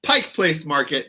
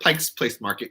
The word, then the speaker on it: Pike Place Market: I am in the Seattle area and you spell it right Murray as Diana would say it's Pike Place Market not Pike's Place Market cuz it's one place not a bunch of